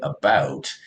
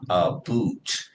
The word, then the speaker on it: about: But what I understand is apparently when Canadians say about, the ow is a little bit more prominent. Okay. And in the video here, he says we pronounce it about, not a boot.